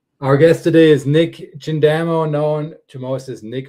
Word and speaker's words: Chindamo: that last name, and it's just pronounced exactly how it's spelled. It's said the same way it's spelled. And people put an SH on the front of it for some reason. Chindamo is what it is.